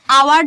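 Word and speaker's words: hour: যেমন খেয়াল করো, এই যে আমরা অ্যান আওয়ার যখন বলি, উচ্চারণটা আমাদের শুধু আওয়ার হচ্ছে না, এই এইচটা কি উচ্চারণ হচ্ছে, এইচটা কিন্তু সাইলেন্ট। আমরা এন এইচ দিয়ে শুরু হইলো, কিন্তু আমরা হাওয়ার বলছি না, আমরা আওয়ার বলছি।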